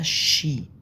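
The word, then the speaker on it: Ski: اي بنطق طويله ليجن كلمه سكي دي اسمها شي شي هي رياضه التزحلق على الجليد اسمها كده شي بينطقوا الاس كي اي بينطقوها شي الها لو قبلها فوكال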